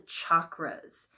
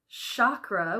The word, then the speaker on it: chakra: And one of the reasons why that happens is because of the chakras. You may have heard the word chakra, which is a common mispronunciation of the word chakra. It's that ch-ch-chakra sound.